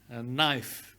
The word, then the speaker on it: knife: Ada knife, bukan knife, bukan knife. K-nya itu silent K, ya. Knife, ya.